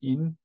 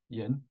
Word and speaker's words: Yin: It's pronounced "In", not Yin, and other traditional Chinese medicine concepts, and I will integrate western medicine or western herbalism, a little bit as well.